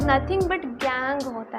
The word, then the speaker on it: gangue: Second important term is गैंग. GANGUE बट is pronounced as DANG वाला गैंग only.